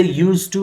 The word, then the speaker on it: used to: Keep in your mind, D is not pronounced. It is written but not pronounced. You will say used to, not used to.